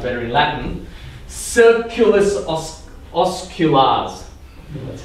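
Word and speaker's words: circulus osculans: So this is called the kissing circle, or in Latin, because everything sounds better in Latin, circulus osculars.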